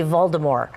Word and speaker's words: Voldemort: How do you know the T is silent?